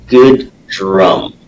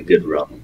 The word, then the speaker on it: Goodrum: thank you having me how do you say your last name good drum okay so I'm I'm trying to avoid the good rum part of it yeah well I wasn't